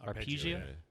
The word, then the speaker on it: Arpeggio: And then I have written down here at some point, Sly overhears a phone conversation between Bison and Arpeggio. Is that how it's pronounced? Arpeggio.